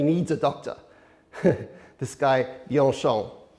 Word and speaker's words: Bianchon: His family name, his last name is pronounced Bianchon.